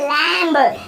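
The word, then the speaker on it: lamb: में लैंप बोलते हैं तो उसकी स्पेलिंग भी देखो लास्ट में बी ए रहा है और वो भी एम के बाद तो वहां पर भी वो साइलेंट रहेगा और उससे बोलेंगे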